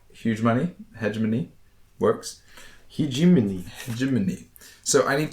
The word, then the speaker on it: hegemony: So without attacking a planet, you can just diplomatically take it over with hegemony.